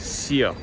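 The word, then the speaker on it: Sceaux: how to say it it's seek s-c-e-a-u-x the Avenue of the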